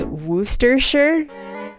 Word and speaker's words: Worcestershire: hear people say it I hear Worcestershire it's Wooster sure Worcestershire okay I so what's the general consensus